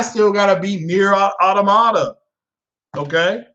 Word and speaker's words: Automata: I still got to beat Nier Automata. Okay, I know people pronounce it Autonoma. I believe it's Automata. Like Yamamoto, Automata.